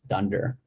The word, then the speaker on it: dunder: this one and so when you see two underscores in the python world you actually pronounce that as dunder so this file is